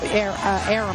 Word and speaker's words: Arum: as you just mentioned, Bob Arum, I think is how it's pronounced.